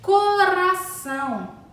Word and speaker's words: coração: apenas um R o coração coração assim como a palavra barata também possui apenas um R esse R sai a nossa língua coração socorro socorro possui